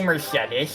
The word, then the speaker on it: Mercedes: Like Mercedes, just how I thought it was pronounced at first. Yeah, I think everyone thought that, so you're not. I mean, it is how you normally pronounce the name. I think Mercedes. It's actually Mercedes. Actually, yeah, actually. Actually, it's pronounced Mercedes, man.